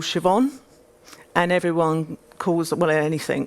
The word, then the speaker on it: Siobhan: spells out their name so siobhan will just be shev hyphen en siobhan so easy right it's not how she spells it doesn't sound that way but phonetically spelling i